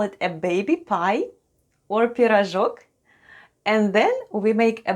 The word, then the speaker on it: пирожок: If we bake it small, we call it a baby pie or пирожок, and then we make a basket full of them.